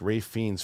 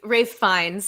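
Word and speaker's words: Ralph Fiennes: Also, give me more jacked Rafe Fiennes for now on. What was he? Rafe Fiennes.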